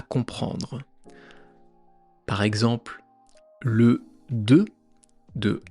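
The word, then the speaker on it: deux: Par exemple, le 2 de 1 2 3, il y a un x à la fin qu'on ne prononce pas.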